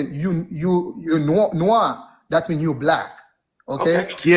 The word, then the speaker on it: noir: The proper pronunciation is noir.